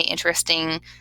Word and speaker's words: interesting: you say it um it technically has four syllables but when we say interesting just in our everyday speech it sounds like it has three so interesting but really